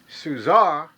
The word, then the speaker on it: Czur: give my presentation of the souza it's spelled c-z-u-r-r-b it arrived at my house thursday